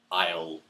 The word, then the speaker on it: isle: The third aisle is spelt I-S-L-E, and that's a small island. There is the aisle out in the sea.